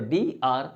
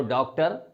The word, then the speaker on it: Dr: लेकिन डियर guys, इस बात का ध्यान देना है कि लिखते हैं DR, लेकिन जब प्रोनाउंस करते हैं तो DR नहीं बोलते हैं। जैसे किसी का नाम डॉक्टर माथुर है तो हम ये नहीं बोलते हैं कि DR माथुर, बल्कि हम बोलते हैं डॉक्टर माथुर।